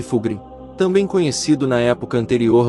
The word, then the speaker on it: Fulgrim: de carpinto sputum stori al representando fig fugin pronuncia-se fugin também conhecido na época anterior ao renas roros